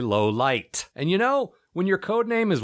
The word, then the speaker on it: Lowlight: Actually, Dial Tone pronounces his friend's name more clearly in this scene, and the guy I thought was Lowlife is actually Lowlight.